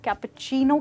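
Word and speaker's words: cappuccino: जैसे कि आप देख सकते हैं दोस्तों, इस वर्ड की स्पेलिंग में सिर्फ सी है और एच तो है ही नहीं, पर फिर भी जब हम इसको बोलते हैं हम इसको कैपुचिनो कहते हैं, ना कि कैपुचिनो या सीनो।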